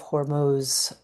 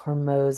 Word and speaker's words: Hormuz: of the Strait of Hormuz being choked. I heard it's actually pronounced Hormuz instead of Hormuz, but I haven't double, triple checked that, so I might be wrong about that.